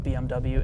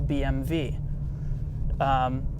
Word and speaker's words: BMW: well oh my god if the W in German is pronounced as a V well then BMW is not actually pronounced BMW in Germany it's actually pronounced a BM v so BMW Welt you